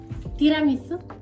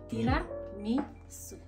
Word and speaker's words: tiramisu: Tiramisu. Okay. Tiramisu. Su. No. No. Su. Tira. Tira. You're like exaggerating the R.